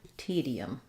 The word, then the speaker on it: tedium: says the schwa um so it sounds like T the um tedium em as I move from the e to the uh there may be a little bit of a yuck Glide there you're not going to see it um in the IPA necessarily but because I'm moving from E to uh that gliding yeah sound kind of just happens there because of vowel to vowel linking tedium same thing for